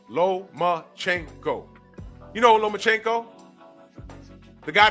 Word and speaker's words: Lomachenko: One last name, four syllables. Lomachenko.